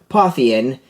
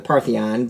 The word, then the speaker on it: Pantheon: So it is the Pantheon, instead of not the Parthenon, but Pantheon.